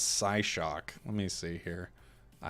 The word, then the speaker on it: Psyshock: I pronounce the P a bit more.